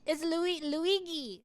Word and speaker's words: Luigi: Okay, how do you pronounce it? It's Luigi.